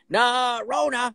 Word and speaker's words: Norona: But say it like Costanza. Norona.